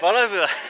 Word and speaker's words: Bolívar: Is that Bolívar. Correct? Bolívar.